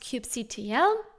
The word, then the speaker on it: kubectl: And that tool is specific to Kubernetes called kubectl, also pronounced cube CTL, or cube control. And kubectl allows us to communicate